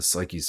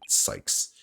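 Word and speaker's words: Cykes: She was found on the 5th floor of the Space Center, in the Psyches family residence. Oh, I said Psyches again. Sykes.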